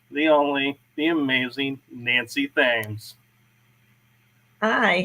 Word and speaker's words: Thames: I pronounce my last name Thames, like the Thames River in England.